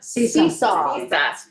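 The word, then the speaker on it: CESA: Cessa seesawa seesaw like on a playground.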